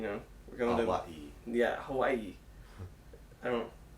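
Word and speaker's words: Aiea: to Hawaii. I don't. Which Hawaii? A-I-E-A. Yes. Yes. I believe. I believe that's how it's said. And so we're going to Hawaii, you know, and we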